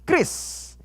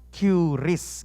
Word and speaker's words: QRIS: hari ini mengenai krisis Inget ya bacanya itu ya tulisannya orang tulisannya currys gitu ya namun bacanya Kris teman-teman macam-macam Soalnya saya sebelum kesini aja bacanya currys bahkan teman saya dan ribet banget bacanya Mbak ada pembayaran love you i love lumayan berlebihan ya Haha jadi Bacanya teman-teman adalah Kris dan Kris ini merupakan